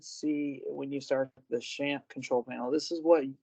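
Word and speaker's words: XAMPP: you here is again I'm down I've downloaded shamp that's how I'm told you should respond you should uh pronounce the name of this uh product so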